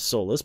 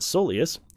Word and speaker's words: Soleus: Instead of Solus, but Soleus.